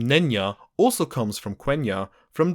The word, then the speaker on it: Nenya: The second ring was Nenya, and it was made of mithril.